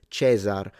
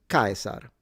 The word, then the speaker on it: Caesar: pronunciation, it's Caesar, but when you read it in classical pronunciation, is Caesar. So the S is a S, and then the rolled R, stress at the beginning, C like a K, Caesar.